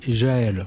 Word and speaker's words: Gaël: Bonjour Gaël, on dit Gaël ou ? On dit Jaël.